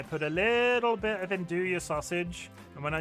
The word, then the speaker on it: andouille: And I shake the bowl up so the dried herbs go all over the pasta with the andouille sausage.